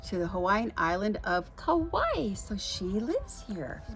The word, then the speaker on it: Kauai: And Kauai is Kauai, one of the Hawaiian Islands.